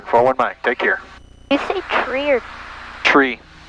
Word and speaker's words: tree: one nine take care tree like a tree grows in the yard that's how you're supposed